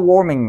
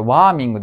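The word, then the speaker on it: warming: おきますね Global ウォーミングのところで出てきましたこれワーミングではありませんので気をつけてねこれなんて発音し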